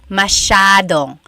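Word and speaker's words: masyado: Elijah said, "How do you pronounce mashadong?" Mashado means a lot. So the s ya is a sha sound.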